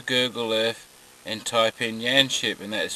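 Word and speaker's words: Yanchep: And I'm leaving Yanship in about 5 seconds. Now if you want to know where Yanship is, go onto Google Earth and type in Yanship, and that's spelled Y-A-N-C-H-E-P.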